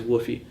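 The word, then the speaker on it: WFOE: The first one is the so-called WOFE, which is spelled like WOFE, but it's, people say it as WOFE.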